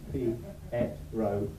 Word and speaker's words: Pietro: Not a difficult name. Very easy. 3 very straightforward syllables. Pietro.